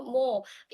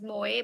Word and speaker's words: Mo: Mo, earlier I used to pronounce Mo as Moe, but one time chat said, no, it's not Moe, it's Mo. I'm like, okay, it's Mo. Fine.